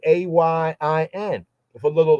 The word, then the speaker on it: Ayin: So a proper full voicing pronunciation of that will be Ayin.